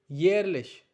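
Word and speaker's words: jährlich: Yearly, yearlich. Yearly, once more, yearly, yearlich. It's J A umlaut H R L I C H. Sounds like yearlich.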